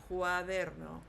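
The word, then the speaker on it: cuadro: And then we also talked about cu should have a k sound. So quadro.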